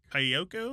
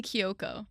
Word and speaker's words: Kiyoko: Um, and then Haley Kyoko, is that how you pronounce it? Haley Kiyoko.